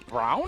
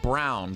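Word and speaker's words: Braun: Oh, so A-U-N is Brown? He pronounces it Brown, B-R-A-U-N.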